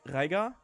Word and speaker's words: Reiger: Reiger. Okay, in my accent of German, we call the R, so we pronounce it out of the throat.